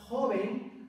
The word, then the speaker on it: joven: en vocal vocal entonces la palabra joven a pesar de ser una palabra llana porque la sílaba tónica es la penúltima no se acentúa porque termina en N pero la palabra árbol